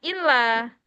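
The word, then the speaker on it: إلا: Ah, cara, Ya'tumul cara bacanya illa, wa illa, fasyukron. Ya, saya jadi bertanya-tanya juga tadi. Ya, jadi kalau yang kemarin ahi umam itu inla, ya, tapi bacanya illa.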